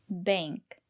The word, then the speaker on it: bank: Bank. Use the long A. Bank.